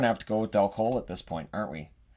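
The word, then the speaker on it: Dal Colle: Which I heard pronounced at one point as Del Collie, which is why that's what I called him. And then people are like, it's not Del Collie.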